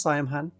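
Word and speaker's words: Saim-Hann: Yeah, I think it's Siam Han. It's pronounced Siam Han.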